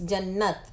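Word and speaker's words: جنت: के लिए के लिए अब यहां पर जो एच है ना जन्नत के आगे वो अननेसेसरी है यू डोंट हैव टू से ज इट जन्नत स्टॉप एट द त साउंड ठीक जन्नत में जाने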